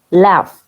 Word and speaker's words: laugh: Laugh, esa combinación de una G y una H se pronuncia como una F en este caso.